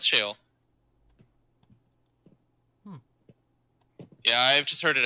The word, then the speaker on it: Sheol: shale i'm just because i think i pronounce it as shawl maybe but it's no it's shale yeah i've just heard